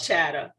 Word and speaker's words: Chatta: It should it be an ER? Because you know everybody from the north, they don't pronounce theirs R's.